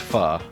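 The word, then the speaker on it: Phở: okay but of course all foodie and hipsters know that it's pronounced pha and vietnamese people so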